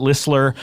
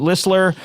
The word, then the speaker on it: Listler: Bang we're here with Marissa Wampler and Charlotte ller uh the t is silent and uh Marissa my intern for many years uh is back her Charlotte ller is here and turnaround when we yes that's